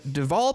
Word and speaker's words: Deval: Amy Klobuchar, Andrew Yang, Tom Steyer, and Deval Patrick.